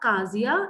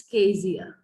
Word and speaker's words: Kezia: The only thing is the pronunciation, it's not Kazia, it's Kezia. Fine.